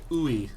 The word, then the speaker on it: UI: Groove Mastery says, as a UI engineer, I pronounce it ooey.